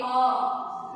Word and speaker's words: awe: A-W-E, awe. You have to pronounce the word awe.